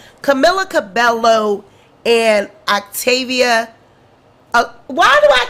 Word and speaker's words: Camila Cabello: say it camilla cabella how do you say it camilla cabello camilla cabello that's how you say it camila cabello and octavia why do